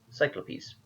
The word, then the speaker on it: Cyclopes: Oh, no, Cyclopes. Okay, yeah, Cyclopes. Alright, I think at least... in at least one video I've pronounced it correctly then. Cyclopes. Good to know.